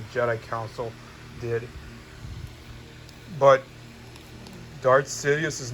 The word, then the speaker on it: Darth Sidious: too how could darth sidney portrayed him it's pronounced dot sidious as a matter of